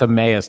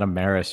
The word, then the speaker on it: Emmaus: it's a nice brewery it's emmaus not embarrass you weirdo whatever like that's